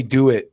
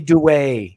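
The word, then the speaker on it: Duet: should pull this up, but I said Sammy Do It when I was talking about Sammy from Acid Bath, and these people in the comments are like, no, it's Sammy Dewey.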